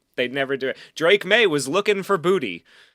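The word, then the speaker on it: Boutte: they never do Drake May was looking for Booty. Going deep. And he finds him. Finds Booty Deep.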